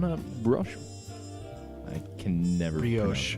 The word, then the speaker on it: brioche: I can never Brioche. pronounce.